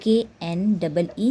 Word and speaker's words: knee: KNEE, knee. KNEE, knee. In these words, the K is silent letter, where we can't pronounce K. We start pronounce from N, knife, no, and knee.